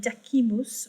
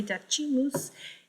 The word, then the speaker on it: decimus: which is ninth, and decimus, which is 10th. You can also say decimus if you want there for ecclesiastical Latin.